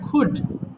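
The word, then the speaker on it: could: আবার বলল কি মুশকিল এটা কোড না বাবা এটা খুড খুড এল এর উচ্চারণ হবে না খুব খুড আবার বলুড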